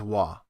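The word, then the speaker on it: は: Certain particles in Japanese change their pronunciation depending on usage as a particle or as an ordinary pronunciation character. Such is the case with ha as wa, and also he as e.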